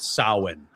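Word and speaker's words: Samhain: You know, Halloween was sin Christian. If you if you want to look it up, it's it's actually spelled nothing like it like it sounds.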